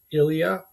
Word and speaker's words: Ilya: Ilya is a very common Russian name pronounced very much like the French Ilya. I'm saying that the same way both ways.